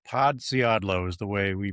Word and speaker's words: Podsiadlo: Podiadlo is the way we pronounce it now. Four easy syllables and it's it's on